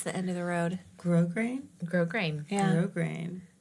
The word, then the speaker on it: grosgrain: grosgrain, Grosgrain. Yeah. grosgrain, which I hope Grosgrain is ironic for Brits because the S is silent.